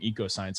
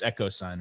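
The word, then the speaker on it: EchoSign: i keep i think i kept saying it wrong eco science echo sign right it's okay um so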